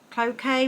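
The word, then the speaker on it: cloqué: um and gold um it's a clock rayon Cloquet rayon it's how you say it's a lightweight quality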